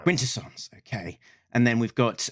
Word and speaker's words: Quintesson: The um quint uh emphasis on the first syllable. Quintessance. Quintessance.